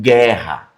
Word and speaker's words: guerra: Esse gu em algumas situações, não vai aparecer o u. Só o som do g igual em guerra. Tá vendo? Guerra. Agora a diferença pra água, ó. Ó, a gua. Tá vendo esse, ó? O gu aqui já aparece o som do u.